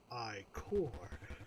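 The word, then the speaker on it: Ichor: I sense a tropical chalice I can fill with magical eye core that's pronounced I core.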